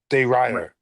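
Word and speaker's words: de Ridder: Runner de Rider is how you say Renner it.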